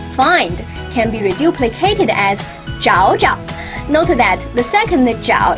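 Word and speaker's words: 找找: third tone means find can be reduplicated as zhao ja note that the second jiao is pronounced in a neutral tone look my boyfriend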